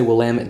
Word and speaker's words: Willamette: So we've been calling all these Willamette Valley Pinots Willamettes, and the actual way to pronounce that is Willamette.